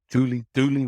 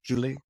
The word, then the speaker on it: Duley: My last name is Duley, which is a French name. It's Julie, I think it's pronounced Julie in French.